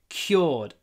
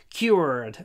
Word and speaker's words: cured: I am cured. Americans say cured. Like you're a little bit like you're saying QR quad. Cured. But we say cured.